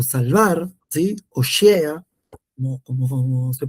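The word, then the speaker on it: הושע: Un poco de lo que veíamos era cuál era el nombre de Oseas, ¿sí?, que era libertar o salvar, ¿sí?, Oshea, como se pronuncia el nombre, Beeri, que era el padre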